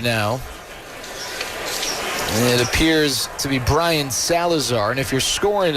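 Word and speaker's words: Braian: it appears to be Brian Salazar. And if you're scoring at home, which, by the way, if you're scoring at home, we might need to have a talk. It's spelled B-R-A-I-A-N. Brian, a lefty.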